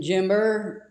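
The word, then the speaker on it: Jember: I'm in Jimber. That's how you pronounce it.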